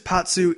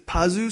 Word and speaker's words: Pazu: I mean, like, Patsu, in English it's Patsu, in Japanese it's Pazu, so we'll call him Pazu just for that sake.